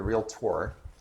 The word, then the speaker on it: realtor: I'm gonna let you lead me in because you're the realtor. You notice how I Yeah, pronounce and that right? so- Not realtor, realtor. Realtor.